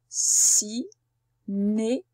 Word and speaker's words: cinéma: Cinéma. Cinéma. Si-né-ma. C'est bien dans la première syllabe qu'on entend le son S. Et c'est même la même qu'au-dessus. Donc encore une fois, c'est cette lettre C qui fait S.